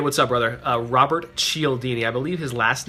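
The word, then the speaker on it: Cialdini: Uh, Robert Chelini, I believe his last name is spelled C I A L D I N I.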